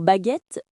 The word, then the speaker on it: baguette: Et pour baguette, c'est facile. Baguette. 2 syllabes.